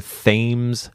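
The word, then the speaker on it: Thames: yes yeah the themes if you want to pronounce it like the local it is the themes River spell t h mes exactly the same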